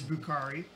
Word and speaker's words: Bukhari: My last name is Bukhari, and it's something that kind of rhymes with broccoli.